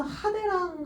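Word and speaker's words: 派手: 둘 다 이제 화려하다 이 뜻을 갖고 있는데 지금 하대라고 할 때는요 이게 이제 갈래 파자예요. 진짜 갈래 찢어져 있죠? 그래서 이거 음독으로 읽어줄 때는 하라고 읽어요. 하. 그래서 하대 하게 되면은 음독과 훈독이 더해진 거죠.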